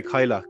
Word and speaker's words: Cailleach: Is that the way you Uh, pronounce it? I would say Kailak. Kailak. Cailleach, sorry, Cailleach.